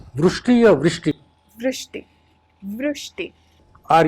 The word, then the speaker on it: Vrushti: How do you pronounce your name? Vrishti or Vrishti?